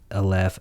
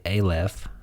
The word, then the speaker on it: Aleph: go ahead and say const left actually a-left sorry i've got to get that right i think that's the right way to pronounce it i hit the wrong